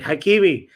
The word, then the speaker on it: Hakimi: I think Ashra is how you say his first name, but Hakeim is definitely his last name because he was named